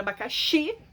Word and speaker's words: abacaxi: Quando a gente fala a palavra abacaxi, o xi é mais forte, então a sílaba tônica mais forte é a última.